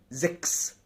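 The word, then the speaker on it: sechs: طيب، تالت حاله اللي تسيها لو جه وراها اس تنطق قائس. اللي تسيها لو جه وراها اس تنطق قائس، زي زكس.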